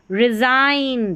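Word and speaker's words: resign: रिज़ाइन, देखिए आइन आ रहा है उच्चारण IGN का।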